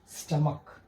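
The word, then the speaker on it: stomach: इसका correct pronunciation क्या है? स्टमक।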